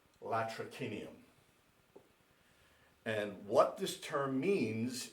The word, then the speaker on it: latrocinium: If you're using proper classical Latin, it would be latrocinium.